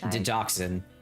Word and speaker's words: digoxin: Dioxin. Digoxin. Digoxin. Okay. Just because it's spelt slightly different from digitalis.